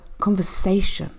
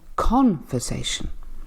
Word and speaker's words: conversation: take the word conversation so conversation the third syllable here is stress I'm not saying conversation because that wouldn't make sense and sometimes it's even